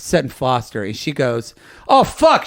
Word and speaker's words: Sutton Foster: And so she's like, coming up next is Sutton Forster. And she said the name wrong. And so Sutton came out and then sang, and they stopped it. And they actually said, Cher, that is Sutton Foster.